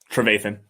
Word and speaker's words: Trevathan: Trevathan.